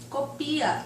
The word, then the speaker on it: copia: Copia, verbo.